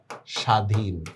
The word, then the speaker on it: স্বাধীন: কোনটা হবে তক কারণ শব্দের শুরুতে বফলার কোন উচ্চারণ হয় না যেমন আমি লিখলাম স্বাধীন তাহলে কি হবে উচ্চারণটা স্বাধীন এভাবে না এভাবে শ্রমিক